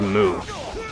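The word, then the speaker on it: Mū: point out it's it's it's moo but it's spelled like mu with the U having like the line over it and the fight's over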